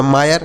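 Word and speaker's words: mire: Yama I आर ई तो यम से म लिखेंगे, आई का उच्चारण आय होगा, आर ई से र तो यह हो गया मायर, यम आई आर ई मायर।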